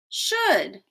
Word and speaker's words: should: l is silent could when we say could would should we do not hear the l at all the l is silent another odd thing about